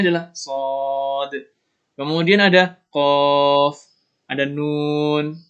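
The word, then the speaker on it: ص: Nah, itu cara bacanya adalah Shad.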